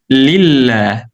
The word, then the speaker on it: lillah: So we don't know that in the middle you don't pronounce this alif. When you combine the lam with the name of Allah, li, Allah, when you combine them together, it becomes lillah.